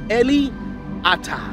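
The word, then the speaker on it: אֵלִי אָתָּה: The phrase, you have been my God, is pronounced Eli Ata. It means you have been my God. But if you don't hear it clearly, it might sound like Eliata.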